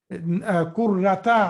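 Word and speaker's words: كرةَ: Kurrata, I'm saying kurrata. Why I'm saying kurrata, brothers and sisters? Why I'm saying kurrata? Yes, because it is maf'ul.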